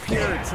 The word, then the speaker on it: Peart: But that's where you need to go if you want to Still reeling from your Neil Peart. That's how you pronounce it.